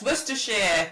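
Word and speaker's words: Worcestershire: It's worshshire. You guys struggle with worershir sauce, don't you?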